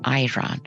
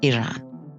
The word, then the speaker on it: Iran: South many people mispronounce Iran and call it Iran the right way of pronouncing it is Iran it has a population of 86 million making